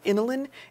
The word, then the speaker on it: inulin: what would is called inulin inulin it's spelled like insulin without the S so the inland helps